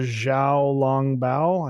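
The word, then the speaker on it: 小笼包: the xiao long bao i think that's is that how you say it the dumpling with the soup inside right let me make sure like am i saying that okay soup dumplings yeah you said you said it right uh my thoughts on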